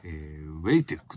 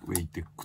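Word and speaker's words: WE Tech: ことだねああうぇいテックですダブルいい東海でなぜか way ティックと読むっていうねあって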